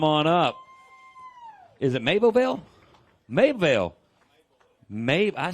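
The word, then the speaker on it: Mabelvale: Mableville.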